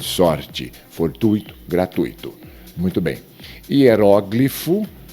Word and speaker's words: hieróglifo: Hieróglifo, mas aqui o dicionário nos traz que hieroglifo é um variante, então nós não podemos considerar a pronúncia como errada, mas uma variante. O hieróglifo ou hieroglifo. Eu procurei e realmente o dicionário aceita uma variante.